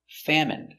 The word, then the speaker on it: famine: Remember, medicine, margarine, intestine or intestines, more than one, genuine, famine. Remember, it's countable, a famine, and jasmine. So all of these words are pronounced with the in sound for the ine.